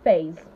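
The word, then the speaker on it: faze: I didn't save face I said phase fa z e and p hasd sounds the same phase phase phase mains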